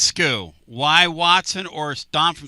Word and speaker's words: SKU: Sku that's skew.